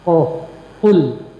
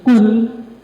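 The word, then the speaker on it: قل: Qul, awas salah bacanya, makin qul tengah tenggorokan. Qul artinya katakanlah, lapaskanlah, ucapkanlah. Tapi kalau dia naik dikit jadi kul, naik dikit ke pucuk makhrajnya jadi kaful, artinya makanlah.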